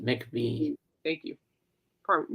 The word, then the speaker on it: McVie: Christine McVie is pronounced it McVie. Thank you. Pardon, McVie.